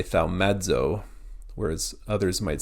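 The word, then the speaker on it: θαυμάζω: Similar to the English word audible, the A and the U at the beginning of audible are pronounced together. Same with here, thaumazo.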